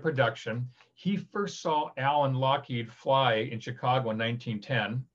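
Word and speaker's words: Loughead: spelled l-o-u-g-h-e-a-d which is log head as people pronounce it but it's scottish so it's lockheed and they eventually changed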